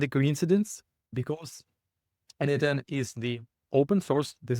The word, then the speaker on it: N8N: You pronounce it as N8N, and this is short for the Nodemation.